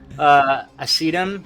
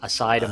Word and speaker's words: Acidum: And by the way, Acidum, I pronounce it wrong. It's actually pronounced like asylum, so it's Acidum.